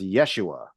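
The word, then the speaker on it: ישוע: IED version would be Joshua which was originally pronounced Yeshua yeah and from Yeshua we get Jesus but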